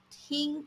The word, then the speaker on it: 听: The character tīng is pronounced as tīng in the first tone, and generally it means to listen or to hear.